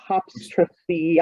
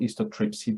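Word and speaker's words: histotripsy: to jump on the histoptrypsy, I don't know how to say it, technology? Yeah, it's called histotrypsy. The histotrypsy. That's easy. I can say that now. Okay. Histotrypsy. It sounds like lithotripsy.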